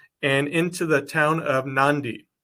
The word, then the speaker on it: Nadi: into the town of nandi I know it's spelled Nadi it's pronounced nandi n-a-n-d-i pronunciation wise but